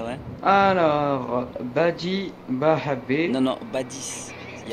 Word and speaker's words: Badis: Il y a un S à la fin, en fait. Badis, ah, Badis. Oui. Okay. C'est mieux comme là, ça. Je sais pas, parce que des fois les S ils se prononcent.